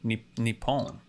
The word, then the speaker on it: Nippon: Japanese name for Japan can be pronounced either Nihon or Nippon both readings come from